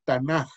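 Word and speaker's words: תנ״ך: La palabra Tanaj dice, viene del acrónimo o el acróstico hebreo, y ahí tienen la palabra que se pronuncia realmente Tanaj con J al final. Es la pronunciación correcta.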